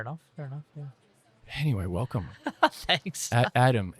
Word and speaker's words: Adem: Thanks, Adam. It's Adam, isn't it? It is Adam.